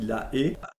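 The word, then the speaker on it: La Haye: la ville hollandaise de la e ça s'écrit la a mais ça se dit la e alors en 1800 en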